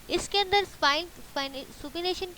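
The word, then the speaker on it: supination: अब इसको सुपीनेशन, इसका जो प्रोनाउंसिएशन है वो क्या है, सुपीनेशन, सुपीनेशन।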